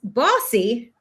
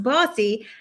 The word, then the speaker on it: Bose: So, our guest today is Bossy, spelled b o s e, but it's pronounced Bossy who is the joy amplifier.